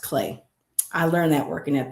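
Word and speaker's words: Klee: I always said Cle, but Cle is actually pronounced Clay.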